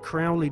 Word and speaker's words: Crowley: have his name pronounced Crowley to rhyme with holy and the statements today